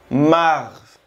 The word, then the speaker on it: mars: Mars. Mars. El mes de abril se pronuncia abril.